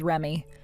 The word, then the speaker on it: Reme: She has it spelled as Reme, but you're supposed to pronounce it as Remy.